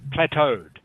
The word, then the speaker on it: plateaued: French word e Au in French is always pronounced like an O so that's why the word looks a bit strange it's French plateaued means